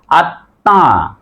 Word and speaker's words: আত্মা: যে শব্দের মাঝে বা শেষে যদি ম ফলা থাকে মর উচ্চারণ হবে না কিন্তু ম ফেলা যুক্ত বর্ণটি দীপ্ত হয় বা দুইবার হয় প্রথমবার হস দিয়ে হবে দ্বিতীয়বার চন্দ্রমেন্দ হবে যেমন দেখো তাহলে আত উচ্চারণ হচ্ছে আত্মা এই যে আমরা কেন